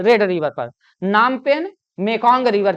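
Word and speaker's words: Phnom Penh: पर कंबोडिया की राजधानी नाम पेन पीएच साइलेंट होता है है ना पी एच एन ओ एम ऐसा पीएच पीई एन एच ऐसा नाम नाम है कंबोडिया की राजधानी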